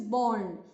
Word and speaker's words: borne: So bear, when it means to give birth, past participle is born, and when it is to carry something, then the past participle is pronounced as born, B-O-R-N-E, born.